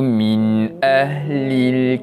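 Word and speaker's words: مِنْ أَهْلِ: Yang mana cara bacaan nun mati itu kita bacakan dengan jelas tanpa dengung.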